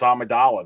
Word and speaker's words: Amidala: They'll say it like that because they don't even know it's Amidala.